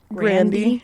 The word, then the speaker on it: Grande: Isn't Ariana Grande's name pronounced Ariana Grande?